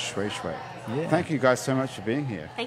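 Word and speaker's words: Shweshwe: like shoo shoo. Yep. It's pronounced Shui Shui.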